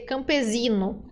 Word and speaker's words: campesino: espanol você pode terência a tentação de dizer campesino que o s entre vogais no português se transforma no som do Z né Por exemplo casa casa no espanhol letra S tem som de s sempre então a gente diz